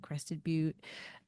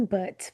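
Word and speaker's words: Crested Butte: Um, my partner like spent a lot of time growing up there in this town called like Crested But um, and so we got like a little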